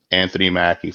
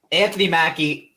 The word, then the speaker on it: Anthony Mackie: the falcon and the avengers what's his name anthony mackie is that how you pronounce it yes anthony mackey yeah anthony mackie is correct again right there chase i took